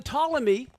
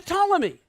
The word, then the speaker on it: Ptolemy: And then Ptolemy was another general, and he controlled Egypt.